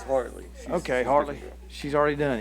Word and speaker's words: Hartley: Hadley Whitmer, is that right? No, that's Hartley.